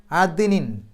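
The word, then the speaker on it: عدن: അവിടെ നൂനിന്റെ ശബ്ദ് മണിക്കുക അദ്നിൻ അവിടെ ദാലിന് സുക്കൂന് വന്നു എടുത്തു പറയണം അത് ദ് എന്നുള്ളത് എടുത്തു പറയണം അതിനിൻ എന്ന് കഴിഞ്ഞിട്ട് ഒരു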